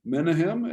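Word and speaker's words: Menahem: he is assassinated by menachem menehem as as we sometimes pronounce it but uh menachem same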